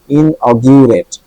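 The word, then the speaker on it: inaugurate: ইন অগরেট ইনঅগট ইরেট ইন অগট অরেট অগট অগিউরেট একবার বললাম ওটাই হল ইনট এখানে ইউটা জিউ গা না হয়ে জি ইউ গিউ হইছে ইন অগিউরেট ইন অগিউরেট মানে উদ্বোধন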